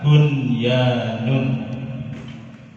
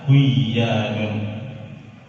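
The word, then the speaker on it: بُنْيَانٌ: Kemudian yang ketiga bunyanun. Bunyanun tidak boleh dibaca buyanun.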